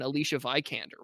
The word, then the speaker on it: Alicia Vikander: I don't really remember correcting you on Alicia Vikander.